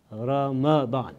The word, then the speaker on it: Ramadan: month called Roma Bahn the correct pronunciation of this month is Ramadan some people say ramen